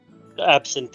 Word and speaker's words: absinthe: signs absent absinthe whatever I don't actually know how it's properly pronounced in English absent is the correct pronunciation in English over here we just say absent but anyway you get